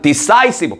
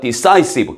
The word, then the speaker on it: decisive: 그 다음 decisive 발음 조심하시고요. decisive 결정적인 decide에서 나온 단어죠.